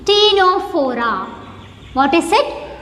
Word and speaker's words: Ctenophora: Similarly, here the first letter is also silent. It is called Ctenophora.